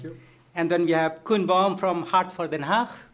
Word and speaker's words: Koen Baum: And then we have Koen Baum from Hart voor Den Haag. Nice pronunciation. Yes. Thank you so much. Yeah, a lot of people pronounce it Cohen-Baum.